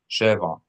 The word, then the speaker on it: שבע: Sheva, when you accent the first, is 7. Sheva.